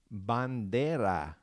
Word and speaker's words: bandera: The next word is going to be the word for flag, and that is bandera. Bandera. I'm going to say it slow. You have ban and de, and then that flap, ra.